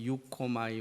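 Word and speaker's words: εὔχομαι: 원하나이다 밑줄 한번 그어 두시고, 이 원하나이다 라고 하는 이 단어는 원어를 보면 원어 발음을 한번 해볼게요. 유코마이라고 써요. 유코마이.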